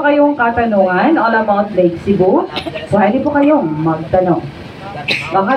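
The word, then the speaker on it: Sebu: Sa word po na Lake Cebu, yung tribal word po dyan ay yung Cebu. Yung S-E-B-U po, yung tamang pagbigkas po nun ay Cebu.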